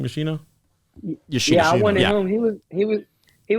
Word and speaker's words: Yoshino: Yoshino.